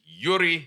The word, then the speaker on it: Joeri: life work into motion this is Yuri not Russian thanks David beautifully beautifully